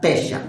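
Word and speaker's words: פשע: En hebreo, la palabra más usada para identificar rebeliones es pesha, así como suena pesha, con acento en la E, pesha, que significa transgresión voluntaria.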